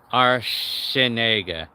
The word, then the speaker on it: Archinega: Like the C sounds like an S. Archinega. That's how he would pronounce my last name.